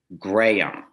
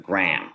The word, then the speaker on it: Graham: that and and he he explained that it was graham which is sort of three syllables instead of graham which is one the way i was